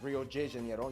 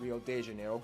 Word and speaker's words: Rio de Janeiro: That's right, it's pronounced Rio de Janeiro, not Rio de Janeiro.